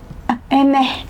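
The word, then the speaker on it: Hermès: Hermes tuh gimana sih Mbak pronounce-nya? Emeh. Ya udah gitu ya.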